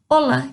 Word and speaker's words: hola: A diferença que a gente tem é que ele começa com a letra H, mas o H não tem som. Então, vai ser hola, como se o H não tivesse lá.